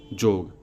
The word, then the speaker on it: योग: अस्तु जब मूल धातु युज है तो इसका अर्थ होगा 2 + 2 बराबर 4, और उच्चारण होगा जोग ना कि योग।